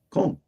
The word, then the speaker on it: Cole: Is it Cole? Cole. Just like that.